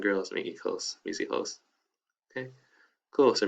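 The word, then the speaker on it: hijos: making clothes we see hoes okay cool so remember the h is silent great all right and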